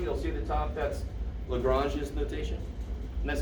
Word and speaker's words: Lagrange: with the prime you'll see the top that's lagrange's notation and that's how you pronounce joseph louis lagrange right if you want to americanize it lagrange